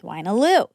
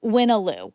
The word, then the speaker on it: Wyna: I'm on the PR team at the New York Times and work closely with Waloo, the creator of Connections. Actually, Winnoo.